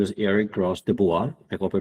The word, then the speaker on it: Gros-Dubois: here with me today his name is Eric Ross de Bois I hope I pronounced it correctly yes you have a great